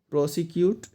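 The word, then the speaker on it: persecute: 180 प्रोसिक्यूट and second word का pronunciation होगा परसिक्यूट।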